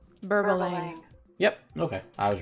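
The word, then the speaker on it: Berbalang: Let's just confirm the pronunciation was correct. Burbalang.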